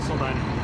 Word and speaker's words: Soldani: Soldani. How do you spell that?